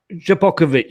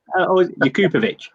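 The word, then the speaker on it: Jakupović: We've got Japokovic still. I believe he's been spotted about. Sorry, Dean. What was his name again? Japokovic. Jakupovic. Yeah, no, Japokovic. You got to say it right.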